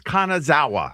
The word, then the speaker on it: Kanazawa: That's Kanazawa. Okay. What do I know? I think it's pretty straightforward in Japan. Well, I guess we were in Kanazawa the last two days and walked through uh